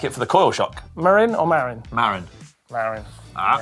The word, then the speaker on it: Marin: This is Tobias's Marin Alpine Trail E1 near Stonehenge.